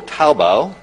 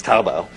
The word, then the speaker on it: Taobao: well Alibaba is one of five there's also taobao they get it right that they're pronounced it correctly okay I've been practicing the last five minutes taobao which is basic have the combination of imagine